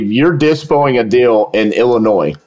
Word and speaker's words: Illinois: I tell them, listen, if you're dispoing a deal in Illinois, okay, I pronounce it Illinois. Some people pronounce it Illinois. I don't know why.